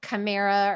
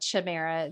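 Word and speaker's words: Chimaera: and and i think some people pronounce it chimera or whatever but we pronounce it chimera c-h-i-m-a-e-r-a the chimera project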